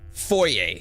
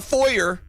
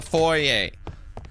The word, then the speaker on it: foyer: This is pronounced foyer. Okay? It's not a foyer. It's a foyer.